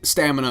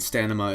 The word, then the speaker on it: stamina: Obviously, Stamina is the correct pronunciation of the word, the correct spelling of the word, and Stanima is merely a misspeak, and people who are